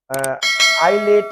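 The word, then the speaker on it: islet: और ये आइलेट है, छोटा जो जजीरा होता है आइलेट।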